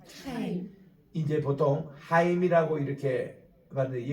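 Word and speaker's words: חיים: 카임. 카임 이제 보통 하임이라고 이렇게 봤는데 여기 키역 발음이 있어요. 그러니까 그냥 하임이라 하지 마시고 카임이라고 이렇게 하세요. 여기 목젖이 좀 떨리는 소리입니다.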